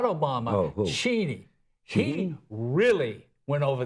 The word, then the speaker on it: Cheney: No, it's pronounced Cheney. Cheney, okay. Yeah, that's right, not Cheney.